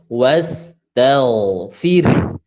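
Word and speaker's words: وَاسْتَغْفِرْ: Huruf ada ta fathah, ada ghain sukun, sebelumnya berbaris fathah maka harus ditebalkan cara membacanya.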